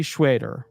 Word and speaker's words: Schweder: If I'm reading in a more Jewish style, that's what I'm accustomed to. But if you have a different way to pronounce her last name, go for it. But to me, that's Shirley Schwader.